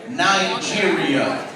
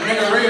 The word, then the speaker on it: Nigeria: First thing I learned, the name of the country is actually pronounced Nigeria. I didn't know that, and I'm sorry everybody that knows Beatles. I was calling it niggeria all those years.